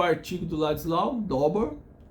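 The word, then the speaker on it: Dowbor: Eu peguei o artigo do Ladislau Dauber, se pronuncia Dauber, mas é D-O-W-B-O-R, né? Dauber.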